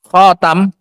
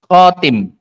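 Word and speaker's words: خاتم: Khatam. Khatam itu adalah bifathit ta. Alkhatam bifathi ta wa kasriha. Dengan menfathah ta dan mengkasrahnya. Jadi bacanya boleh dua. Boleh khatam, boleh apa? Khatim. Boleh khatam, boleh khatim.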